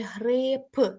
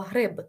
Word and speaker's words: гриб: не може бути ліжко не може бути грип якщо як ми утворюємо від слова гриб та не може бути